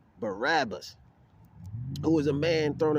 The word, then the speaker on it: Barabbas: which Barnum a rabbit oh no this is Barack okay it's somebody else okay see I didn't see I'm learning which I said it wrong Barabbas who was a man